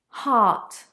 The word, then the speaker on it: heart: Heart, heart, ah, a long sound.